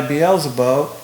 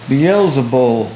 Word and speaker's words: Beelzebul: But when the Pharisees heard this, they said, "This man casts out demons only by Beelzebub, but the ruler of," I think I mispronounced that word, Beelzebul.